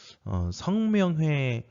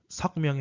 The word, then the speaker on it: 성명회: 성명회 선언을 주도한 이상설과 유인석의 모습입니다. 예, 발음 똑바로 하세요. 내 이름 아니에요. 예, 석명회 아니고요. 성명회입니다.